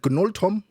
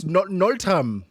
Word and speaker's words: Gnuoltom: Is it Goltom? Nol the G silent. Oh, it's Nolam.